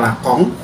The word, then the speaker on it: Lacan: di video sebelumnya yang judulnya lacan gitu ya Tapi bacanya lakong dan dia juga mencoba